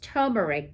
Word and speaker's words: turmeric: And did you know, before we move on, that I always thought it was pronounced turmeric because it's T-U-R, and I've seen it spelled T-U, and people have left out the R.